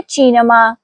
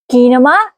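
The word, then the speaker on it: cinema: जुबान फिसल गई मेरी गौर करें यहां लफ्ज सिनेमा में ची के बाद इ आया है इसलिए चे है काफ नहीं इसलिए हम कहेंगे चीनमा कीनमा नहीं कहेंगे अब दोहराते हैं अगले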